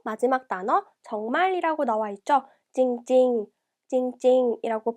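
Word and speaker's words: จริงๆ: 찡찡, 찡찡이라고 발음하고요.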